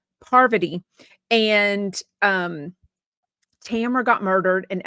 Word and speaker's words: Parvati: Parvati? I'm going to say that name wrong. It's going to sound like I'm saying poverty, and I'm not. Parvati.